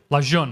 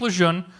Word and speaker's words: Lejeune: News Savannah North Carolina Camp Luzerne I don't know how to pronounce to spell that but that's how that's phonetic la John okay Camp Lejeune small bases in Alaska